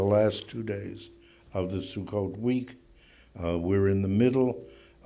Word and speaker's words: Sukkot: like it or not Sukkot is the Sephardic renunciation of circus when I was a boy in Germany I said circus I celebrated circus which is the Ashkenazi way of pronouncing the same thing now most Americans use the Israeli Sephardic pronunciation which is Sukkot Sukkot is the plural